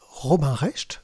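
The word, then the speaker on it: Robin Recht: En effet, Robin Rest, oui, c'est comme ça qu'on prononce, on s'est tous fait avoir.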